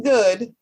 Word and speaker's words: Goode: Goode. The E is silent, but that tongue is sharp.